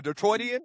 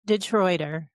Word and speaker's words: Detroiter: Is that the way to say it, Tree? A Detroitian? How do you say it? She's from the native Detroiter. Just a native Detroiter. Yeah. There's no Detroitian or anything like that.